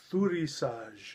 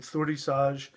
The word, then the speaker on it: Thurisaz: Again, every time there's a Z, I pronounce it as a J. I have no reason for that other than that's what my spirit tells me. That's how the rune wants to be pronounced.